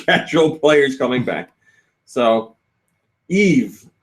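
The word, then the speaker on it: Yves: So Eve says SD securero. Eve Gimat. That's how you say his name now. I know. Eve. His name is spelled Y V.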